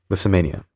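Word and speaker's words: Lissamania: for erupting into rages, pronounced Lissa Mania. Liss Mania, I uh apologize if there's any background noise.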